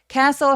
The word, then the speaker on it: castle: castle 할 때요 t는 묵음이에요. 아예 그냥 발음하지 않습니다.